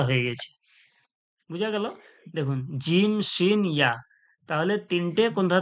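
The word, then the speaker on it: ج: আমি আপনাদের পড়িয়েছিলাম আগে, জিম কোথা থেকে উচ্চারণ হয় বলেছিলাম না, জিহ্বার মাঝখান ও সোজাসুজি তালু, শিনও জিহ্বার মাঝখান ও সোজাসুজি তালু, ইয়াও জিভের মাঝখান ওর সোজাসুজি তালু।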